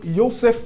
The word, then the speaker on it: Yussef: a gente nós convidamos um especialista, o professor Youssef Campos da Faculdade de História da Universidade Federal de Goiás.